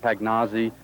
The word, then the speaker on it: Pagnozzi: The first Louisville Redbird to make the transition was Tom Pagnozzi, or is it Pagnozzi? Everyone always butchers it, and it's always going to happen. I pronounce it Pagnozzi.